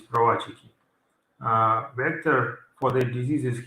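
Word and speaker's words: prowazekii: a Czech scientist, and again, pronunciation is not English one, it's not Pravazeki, it is provachiki.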